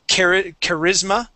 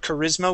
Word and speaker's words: charisma: Charisma. Okay, so that's how we pronounce that word. Charisma with the I getting the accent, and then charismatic.